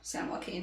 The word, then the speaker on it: San Joaquin: san joaquin river or um that's how you pronounce it yeah san joaquin there's like a massive ancient river that used